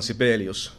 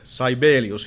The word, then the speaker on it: Sibelius: And of course, we have to mention always Jan Sibelius, or as you pronounce it, Sibelius here in States.